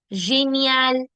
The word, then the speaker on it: génial: So, génial, gymnastique, gérant, girafe, géant, génération. These are the soft sounds. It will never be genial, gymnastique, girafe, génération. No, never. Why? Because the alphabet G is been followed by E, I, and Y. And when that happens, I get the je sound.